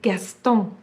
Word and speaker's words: Gaston: my favorite picture books it is spelled looks like gaston but it's a french name so it's guest and the words are